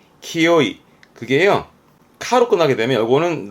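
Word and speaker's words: 清い: 많이 읽혀요 혼자 두게 되면 맑음을 의미하겠죠 이때 발음은 키요이 키요이 그게요 카로 끝나게 되면 요거는 나 형용사를 의미하는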